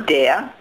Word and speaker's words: der: Dea. Dea. Yeah, dea. Dea. But it's spelled D-E-R, but you say dea.